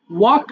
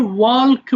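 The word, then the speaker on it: walk: ওয়াক, হাঁটা। এটা অনেকে আমরা ওয়াল্ক বলে ফেলি, তাই না? এটা এল এর উচ্চারণ হবে না। এল ইজ a silent letter hair. So ওয়াক হবে সিম্পল ওয়াক, হাঁটা।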